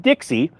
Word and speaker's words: DXY: First the DXY Dixie as it's pronounced or called sometimes.